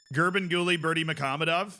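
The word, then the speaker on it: Gurbanguly Berdimuhamedov: Gurbanguly Birdie Makamedov.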